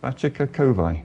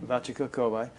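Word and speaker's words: Vachaka Kovai: Guru pronounce it please? Vachika Kovai. Vachika Kovai.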